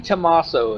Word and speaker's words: Tommaso: G. Tommaso is how you pronounce his last name.